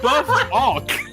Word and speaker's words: Buffuck: Just say Buff-Ock.